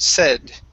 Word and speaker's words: said: Now that last word, instead of said, using a long A sound, saying say, okay, the word is said with a short E. Try that, said.